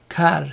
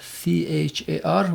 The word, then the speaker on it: char: typing or representing it at car c-h-a-r with lower case c this is not capital lowercase c sometimes people pronounce it as char that refers to character and we can assign